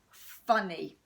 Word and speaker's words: funny: And it sounds like it's got an E at the end.